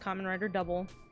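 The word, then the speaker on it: Kamen Rider W: writer and then the letter W but it's pronounced common writer double I think it is the quintessential common rider show and it I think it outlines exactly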